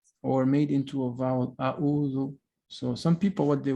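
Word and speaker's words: أعوذ: You need to think that the ayn in Arabic is a strong consonant. It's not a vowel.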